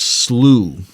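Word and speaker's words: slough: in small ponds and slows free flowing channels of water that develop between Saw Grass pures pronounced slooh foraging STS follow these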